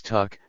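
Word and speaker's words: took: not belong to him Eastern Shore men usually pronounce the word Tuk as tuck Tu a ho therefore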